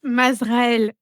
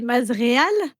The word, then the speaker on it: Mazréal: un moyen de d'ailleurs juste Mazraël, c'est pas Mazraël, c'est Mazréal.